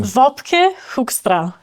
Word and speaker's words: Wopke Hoekstra: Wopke Hoekstra, is that correct? It it it it couldn't have been pronounced better.